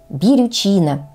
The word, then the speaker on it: бирючина: растение учила такое название ударение в нём Ставим на третий слог бирючина Гела именно так правильно произносить название всем известного весенне цветущего кустарника Кстати когда-то я произносила это слово неправильно с ударением на первый слог Ну видимо мне хотелось